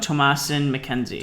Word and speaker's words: Thomasin McKenzie: It's a movie with again, the most famous actress in it would be how do you pronounce her name? Thomasin McKenzie.